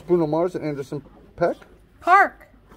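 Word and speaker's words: Paak: very cool it's bruno mars at anderson peck park how the hell do you get park it's park it's pronounced park p-a-a-k r i thought it was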